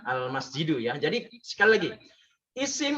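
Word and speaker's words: المسجد: Nah, dibacanya al masjidu, ya.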